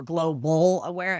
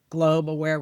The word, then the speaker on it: Globe Aware: The biggest mistake people make is they think we're global aware instead of globe aware. We're just three syllables.